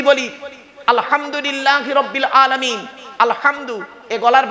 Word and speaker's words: আলহামদুলিল্লাহ: আলহামদুলিল্লাহি রাব্বিল আলামিন। আলহামদু, এই গলার ভেতর থেকে হেটা উচ্চারণ করবেন, আলহামদুলিল্লাহ।